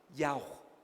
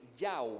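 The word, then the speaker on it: YHWH: porque no tiene vocales yao yao así como y h w h como que el sonido de la respiración dicen algunos pero a alguien se le ocurrió es decir yao wei el nombre de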